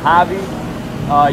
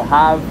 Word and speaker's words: Javi: Yeah, my name is Javi. You'll see it spelled as J-A-V. They'll confuse it for Jav or Hav. It's pronounced Javi.